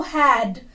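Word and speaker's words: who'd: And next one इज हु हैड, हु हैड, हु हैड दोनों को मिलाकर एक कॉन्ट्रैक्टेड फॉर्म बनती है लाइक दिस, वोट WHOD, क्या बन जाती है? हुड, हुड। WHO apostrophe D बन गया हुड। प्रोनाउंस करके देखिए आप भी, हुड।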